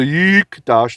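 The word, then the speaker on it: יקדש: So it's yik. See, it's silent now. There's no vowel sound. Dash. Okay? So the yikdash, the yik means he.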